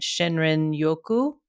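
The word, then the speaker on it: Shinrin-yoku: Shinrin yoku.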